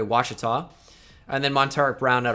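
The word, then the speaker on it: Ouachita: university in gregory junior that's how you say it by the way washita and then monterey brown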